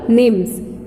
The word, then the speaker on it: nymphs: That's called निम्स. Spelling NYMPHS, निम्स.